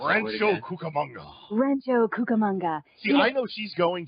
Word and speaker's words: Rancho Cucamonga: If you're around Rancho, how do you pronounce that word Rancho again? Cucamonga. Rancho Cucamonga.